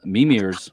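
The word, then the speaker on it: Mímir: mimir's well let me let me put the is on the first syllable so a lot of folks that talk in in in these old Germanic languages want to put emphasis elsewhere but it's m instead of mimir right so mimir as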